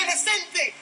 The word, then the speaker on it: inocente: and just laugh, because English people cannot pronounce Spanish words for shit. Like, it's so painful to listen to. He's literally screaming, so inocente, and like... Eso no importa nada, ¿ok? No escuchaba nada aquí. Yo soy inocente. El criminal es fuerte. The word in English is innocent. The word in Spanish is inocente. It's literally the same word. You just add one letter to it.